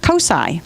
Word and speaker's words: COSI: So we are developing a nice partnership with COSI, which is the Center for Science, Central Ohio.